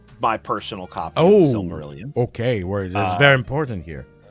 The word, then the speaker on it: Silmarillion: Is that how you pronounce that? Silmarillion, but yes.